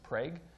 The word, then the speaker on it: Prague: This is now in Oklahoma, where so you don't pronounce that Prague, you pronounce it Prague.